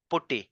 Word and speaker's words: PuTTY: required a tool named putty or Pati however you pronounce it it's p u double t y this is the